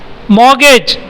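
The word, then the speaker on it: mortgage: बताओ देना व मोर गेट इसमें यह थी साइलेंट और अंग्रेज आर्मी नहीं पड़ते नार्मल इसमें मॉर्गेज इसमें यह आ रोटी दोनों गोरा सा नहीं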